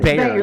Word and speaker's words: Bayer: Bayer, yeah, like Bayer, of course.